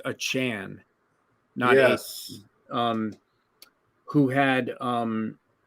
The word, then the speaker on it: Achane: to Devon I believe he's told everyone his last name is pronounced a Chan yes um who had